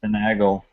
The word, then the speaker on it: Finagle: It's Finagle. Yeah, Finagle. Sorry, it's Finagle. I figured that I was mispronouncing it, but the thing that I always